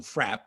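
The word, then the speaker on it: Fraeb: He went twice in 1840, and a man named, well, his name is spelled Frabe, F-R-A-E-B, but he was one of the partners. He was actually Bridger's partner. Bridger and Frabe, they called him Frapp.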